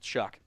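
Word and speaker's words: Shough: S H O U G H pronounced Chuck.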